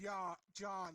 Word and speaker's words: Jan: It's pronounced John for some reason.